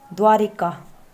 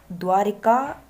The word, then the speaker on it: द्वारका: कि आगे हितेश अथवा द्वारिका अक्सर लोग द्वारिका को कि द्वारिका अशुद्ध वर्तनी है जबकि सही है द्वारका कि द्वारका को है